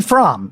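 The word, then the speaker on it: Fromme: um and uh but no it's squeaky from it's not squeaky okay thank you so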